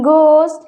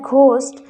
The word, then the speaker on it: ghost: pronounced as Edinburgh in ghost H will be silent here ghost many people pronounce it like ghost very strong the correct